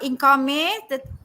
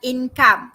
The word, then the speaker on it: income: Okay, not income, but income. Okay, income. Okay, success. Okay, INCOME. The pronunciation is income.